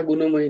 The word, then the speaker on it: गुणमयी: তেমনি এখানেও ঝেষা নয়, দৈবী ঝেষা গুণময়ী নয়, দৈবী ঝেষা, পেট কাটা মূর্ধন্য স, পেট কাটা মূর্ধন্য সটা দন্তস্বর মতো উচ্চারণ হবে না কিন্তু। হেষা গুণ, গুণ মূর্ধন্য, গুণময়ী, গুণময়ী, আবার একটুখানি ওখানে টান হবে, গুণময়ী, दैवी हेषा गुणमयी